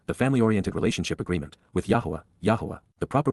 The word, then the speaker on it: Yahowah: the covenant, Berith, the family-oriented relationship agreement, with Yahowah, the proper pronunciation of the name of Eloah, God as directed in his Torah, teaching regarding his Haya existence and our Shalom.